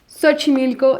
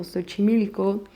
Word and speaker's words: Xochimilco: Xochimilco, it's also a lot of these words that has that S, is they're coming from Nahuatl. For example, Xochimilco, we have some, for example, Xoconostle.